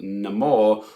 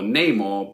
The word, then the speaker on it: Namor: gliding feather serpent God called Namor or name or both pronunciations are correct apparently it was played